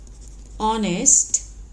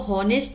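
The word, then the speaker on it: honest: ही was very ऑनेस्ट। इसको हॉनेस्ट नहीं बोलेंगे, ऑनेस्ट। एच साइलेंट है।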